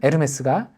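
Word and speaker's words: Hermès: 같아요 그리고 그리스와 헤 많이들 잘 아는 에르메스가 헤르메스의 프랑스식 발음이라고 합니다 자 그리고 나중에 올림푸스의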